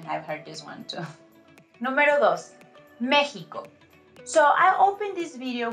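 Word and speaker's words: México: in Spanish is Mexico it's a very common mistake to mispronounce letter X in espanol and this is because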